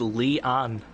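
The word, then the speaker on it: Lian: that's my name now it's not even how you spell it man it's l-i-a-n it's Leon foreign I was because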